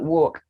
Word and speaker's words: walk: word good should talk so if you ask me what about chalk what about walk yes the early silence yolk salmon not salmon that fish salmon half folk so the l is silent in these words k is silent wait